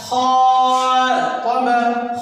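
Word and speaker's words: خاطب: قال خا طب خا طب. خا الف زبر خا، طا زبر طا، خا طا. با زبر با، خا طب خا طب.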